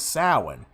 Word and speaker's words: Samhain: Now, when I pronounce the name Samhain, and it's gonna probably confuse some people. It confused me at first when I learned that its true interpretation, its true sounding of the word is Samhain. It's spelled out as Samhain.